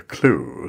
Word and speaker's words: CLEW: and we're talking about an app called the clue c-l-e-w um is that the right pronunciation of the app paul yes yeah absolutely